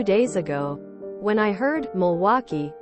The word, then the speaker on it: Milwaukee: them for some reason my stupid brain always read Milwaukee as milk Cowie so every time I